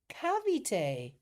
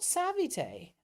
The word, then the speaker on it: Cavite: Pronounce cavite. Oh, not savite. Oh, I thought it was with a s.